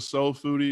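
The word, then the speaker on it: Soul Phoodie: So if you go to Soul Foodie, and that's spelled PHOODIE, there's a link called Restaurant Courses.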